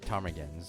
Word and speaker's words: ptarmigans: They look like they're wearing I'm guessing the P is silent. It looks like they're wearing ptarmigans on their heads.